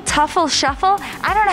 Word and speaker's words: Teufel Sheufel: here with mark from shuffle tuffle shuffle i don't know how to pronounce it how do you pronounce your name it was pronounced tefl shuffle what does it mean